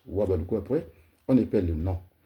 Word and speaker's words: Houabaloukou: Et moi, les Wabaloukou, mon père, il a mis H muet, donc c'est H à Baloukou.